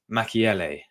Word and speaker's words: Mukiele: we're at right now so yeah yeah it's pronounced Mel mckiel Mel that's it yes Nordy mchele that's it that's I got it now I